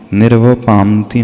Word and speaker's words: निर्वपामीति: निर्वपामी, निर्वपामती नहीं होता है, निर्वपामी प्लस इति, तो निर्वपामीति स्वाहा। बहुत सारे लोग उससे गलत उच्चारण करते हैं, पामती पामती बोलते रहते हैं।